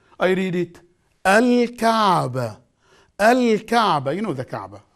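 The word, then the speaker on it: الكعبة: Alif, Lam, Sukoon, Al, Kaf, Fatha, Al-Ka, Ain, Sukoon, Al-Ka, Be, Fatha, Al-Ka'ba, and the ta marbuta in the end, non-pronounced I write it down. Al-Kaaba. I read it. Al-Kaaba.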